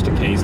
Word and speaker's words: Takei: how to pronounce George takei's name uh was because he told me it's okay and rhymes with two gay uh so so there's